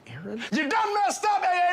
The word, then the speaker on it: Aaron: I said a Aon because it's pronounced Aaron you done messed up